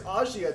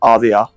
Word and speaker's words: Asia: think the anime says Ashia doesn't it it doesn't just fall out say Asia it's spelled Asia it's pronounced ozia uh okay so that was right the first time see one of them